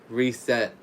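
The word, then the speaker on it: Risette: try to pronounce it it sounds like the word reset that's what it sounds like last year she announced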